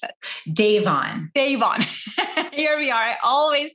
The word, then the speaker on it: Davon: i mispronounce your last name how do you pronounce it devon davon here we are i always feel like i'm